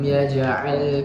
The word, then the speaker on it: يجعل: Kemudian ya ja'al, di situ ada huruf jim yang berharokat sukun. Di situ ada bacaan qalqalah yang harus dipantulkan dengan sedang, karena di situ sughra. Yaj'al. Jadi pantulkannya sedang saya. Yaj'al, yaj'al.